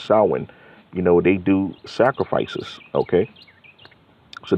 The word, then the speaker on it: Samhain: Okay, just like we read in the definition of Samhain, which is, it looks like it's pronounced Samhain, but it's Samhain.